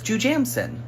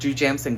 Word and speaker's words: Jujamcyn: So, there are the Shubert houses, there are the Nederlander houses, and then there's Jujamcyn. And do you know where the word Jujamcyn comes from?